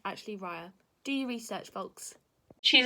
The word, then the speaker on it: Raya: It's actually Raya.